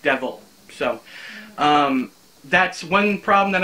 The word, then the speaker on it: Diabhal: back here a dia b h al is pronounced devil so that's one problem that i'm going to